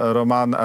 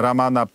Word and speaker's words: Raman: porwanie dziennikarza w zasadzie pana Romana ramana protasiewicza bo to chyba tak się powinno wymawiać prawidłowo mówię dziennikarza chociaż to